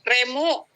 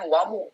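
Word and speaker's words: レム: Oh, Remu. Oke, thank you Kapika. Maaf. Ya. Ini tuh dibacanya itu ini tuh ya. Re sama mu ya. Re sama mu, bukan wamu tapi remu ya.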